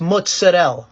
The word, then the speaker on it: mozzarella: Next time you want to say it, it's mozzarella. All right, not mozzarella.